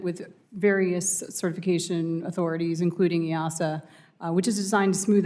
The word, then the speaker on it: EASA: regulators, such as, and I don't know if EASA, is that how you pronounce that? You got it.